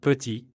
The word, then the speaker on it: petit: Ajoutez à cela les lettres muettes, c'est-à-dire des lettres qui s'écrivent mais ne se prononcent pas, comme le « S » à la fin de « vous » ou le « T » de « petit ».